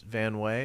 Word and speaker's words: Van Wey: yeah so your uh your last name is van way is that how you say it yeah are